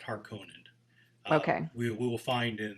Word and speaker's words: Harkonnen: His vision of kind of this black gothic world of the, do you pronounce it Harkonani? How do you pronounce it? Well, I pronounce it Harkonnen.